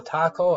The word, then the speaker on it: Taxco: Taxco or Taco. I know you don't pronounce the X, but I can't remember how to pronounce it correctly.